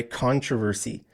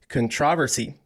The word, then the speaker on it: controversy: also pronounce this word controversy controversy so when when I say it like here in Canada in the us when we pronounce this word we put the stress on the first syllable controversy controversy but British people